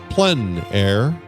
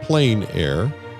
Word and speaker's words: plein air: The French pronounce it plein air. Others will pronounce it plein air. There's not a right or wrong, no matter what you call it.